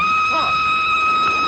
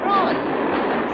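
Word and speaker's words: Froy: My name's Troy. You said Troy? No, not even me. Troy. Sorry, I can't hear. It rhymes with joy.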